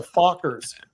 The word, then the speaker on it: FOCCR: we're known as the Fockers. So that's FOCCR. FOCCR, the Fockers. Yes. So, when people come to the headquarters, the people go, oh, here, meet the Fockers.